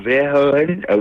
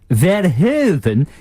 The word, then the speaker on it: Verhoeven: I'm thinking it's Paul Verhoeven with Starship Troopers. Paul what? Paul Verhoeven. Verhoeven? You have not pronounced the Verhoeven.